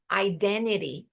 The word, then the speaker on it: identity: mas também posso ouvir identity iden Ok o primeiro T com som de n porque tá do lado do n e o segundo com som de R porque tá na última sílaba pois é inglês inglês